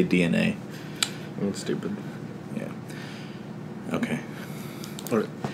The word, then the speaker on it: DeNA: It's spelled DENA, but you're supposed to you say DNA.